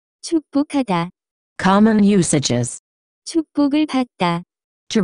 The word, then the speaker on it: 축복하다: The pronunciation of this word is closer to. 축복하다.